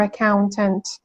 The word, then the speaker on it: accountant: خب accountant یه تلفظ کاملا درستیه ولی میشنوین از نیتیوا که اینطوری تلفظ کنن accountant. Accountant. آره glottal T یعنی تی که بعد ان هست رو تی نمیگیم با صدای شوها میگیم accountant.